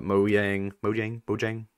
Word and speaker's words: Mojang: What if secretly the reason they've been buying all these companies, the reason they bought Rare, the reason they bought Mojang, how do you pronounce it?